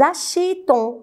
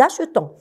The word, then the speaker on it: achetons: Je ne dis pas nous achetons, non, nous achetons.